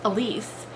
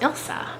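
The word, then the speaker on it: Ilse: left this comment um i've been calling elise elise but it's actually pronounced ilsa and i was thrown because it's i've never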